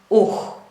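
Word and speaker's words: οὐ: How do we pronounce the ancient Greek negation ouh. It is like this. Ouh. We use the second way of pronunciation when the tongue touches the velar.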